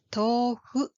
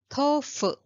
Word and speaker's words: tofu: So, for the bean curd food written as tofu, how do Japanese people pronounce its name? Yes, tofu, not tofu.